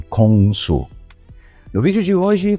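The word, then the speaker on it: 공수: Sin embargo, las dos combinaciones respectivas de caracteres chinos se pronunciaban de forma diferente en coreano, que serían: “Tang-soo” y “Kong-soo”.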